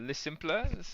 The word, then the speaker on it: Les Simples: so you're just if you want to tell people a little bit about Le Simple, or can you pronounce it Yeah, for me?